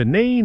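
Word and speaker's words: Nene: one being that is the river the river n as it's pronounced not nen it's definitely the river n and maybe today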